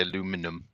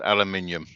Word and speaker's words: aluminium: don't speak King's English they say aluminum aluminum I like to take the Mi but no it's aluminium that's the proper way to say it unfortunately the Americans bastardized